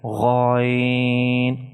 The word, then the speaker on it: ghain: Beside alif, all the letters that are made from 3 letters, you should prolong it 3 to 5 seconds when you are pronouncing them, like ghain.